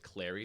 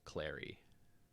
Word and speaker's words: Cleary: bridget cleary clary cleary i'm gonna go with clary because it rhymes with the word fairy yeah perfect right so